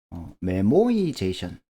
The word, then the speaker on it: memoization: 동적 계획법, 우리가 다이나믹 프로그래밍이라는 걸 공부하다 보면 메모이제이션, 조금 버터 섞인 발음을 하면 미모아이제이션이라는 용어가 자주 나오는데 이게 뭔가요?